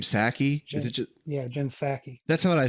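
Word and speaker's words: Psaki: pronounce that woman's name saki is it that's what i thought i thought the p was silent much like their um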